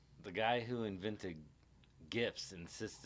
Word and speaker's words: GIF: The guy who invented GIFs insists it's pronounced GIFs.